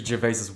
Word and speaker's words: Gervais: I've seen some of other Ricky Gervais's work.